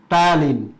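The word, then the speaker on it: ptyalin: এবং serous fluid যেগুলো, এইটার মধ্যে কিন্তু টায়ালিন, পি দ্বারা শুরু হয় কিন্তু বানানটা, টায়ালিন এবং মল্টেজ নামক এনজাইম থাকে, রাইট?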